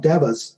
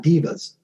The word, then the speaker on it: devas: But they're called devas, not divas. We're not talking Beyonce.